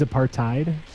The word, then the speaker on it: apartheid: No, it is apartheid. Okay. Yeah, I don't. Apparently there is a TH, but it's not pronounced TH.